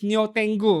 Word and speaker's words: Neo Tengu: The funny thing about this uh Japanese name over here, Nietengo, if you pronounce it in Chinese, it is female sky dog. But in Japanese, it is Neo Tengu, right?